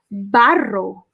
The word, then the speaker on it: barro: So in Spanish, clay, you say barro. Nice. Barro. Barro. my mouth. Barro. I like the way you roll the R's. Roll your R's.